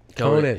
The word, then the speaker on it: Conant: Is that how you pronounce it? Conant? Conant.